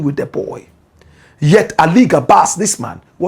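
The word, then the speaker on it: Gabass: I think it's Ali Gabas. The name is Ali Gabas. Not Gabasa. Gabas.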